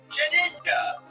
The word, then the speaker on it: Shedinja: Shedinja! Yeah? That's Shedinja. Shedinja. Shedinja. Shedinja. Shedinja. That's so gay. Shedinja. Shedinja. Shedinja. It has like two pronunciations. It's got shed and ninja.